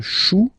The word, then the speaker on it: chou: Then, un chou, okay, remember, when you combine this c and h, you get the sound sh, chou, un chou, pluriel, des choux, okay.